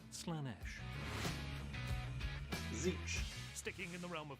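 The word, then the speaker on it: Slaanesh: many names that'slanish isn't one of them it's pronounced slanesh sticking in the realm of chaos the name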